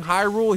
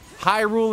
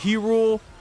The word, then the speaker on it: Hyrule: Dooku Tree, Hyrule instead of He-Rule.